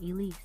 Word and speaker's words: 3Lise: three Leafs on there three l i s e but it's pronounced Elise okay for sure we